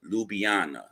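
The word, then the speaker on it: Ljubljana: Go to Ljubana. When you see it, guys, it's spelled LJ U LB LJ A N A, but you pronounce it Lubana.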